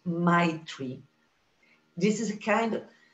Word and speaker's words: Maitri: You have to smile to pronounce it, Maitri.